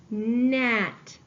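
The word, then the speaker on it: gnat: have the word net at the beginning of the word we have ghost letter digraph G and we need to cross out our ghost letter let's finish coding this word we have NAT I see that the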